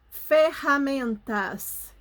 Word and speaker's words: ferramentas: quer limpar a garganta então é diferente quando a gente pronuncia a arranha o som é na ponta da língua e o ferramentas parece que sai lá da nossa garganta sintam a palavra sintam